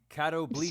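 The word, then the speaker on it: catoblepas: for hitting things is that actually how you pronounce that word uh how's it spelled cattle Beach is what DB on says actually how it's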